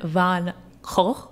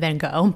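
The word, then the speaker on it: Van Gogh: of my pronunciation but what year did Vincent van H is how you say it Vincent Van H I would say Vincent Veno but I guess apparently that's wrong what year did he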